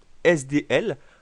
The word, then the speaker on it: SDL: communément appelé SDL oui petite notification important lorsque vous avez un sigle qui est composé uniquement de conson il est très courant d'utiliser la prononciation des lettres une par une c'est-à-dire que vous devez dire SDL à la place de